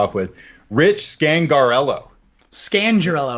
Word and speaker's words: Scangarello: Scangarello, I think is how you say this one.